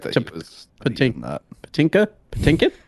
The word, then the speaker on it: Patinkin: Patinkin. How do you say his last name? I think it's Patinkin, right?